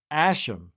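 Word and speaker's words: Æ: the AE it's pronounced asham yeah then it's uh a 812 a12 what how do you say it how do you pronounce this name let me see AE is pronounced Ash and then a12 a12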